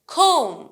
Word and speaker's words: comb: Man, ham, comb, comb, ma, ma. এটা কিভাবে উচ্চারণ করলাম? Comb. I'm not pronouncing the B because B is silent here.